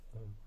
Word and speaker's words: ом: и АНО свара получается ом который все знают Да прекрасно звук в котором есть рождение пребывание и разрушение Вселенной Да он как произносится а о у М Н И разумеется